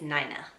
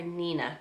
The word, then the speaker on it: Nina: But the name is Nina. Now, my grandma always said people would always call her Nina growing up because it's spelled N-I-N-A. But she's like, nope, it's pronounced Nina.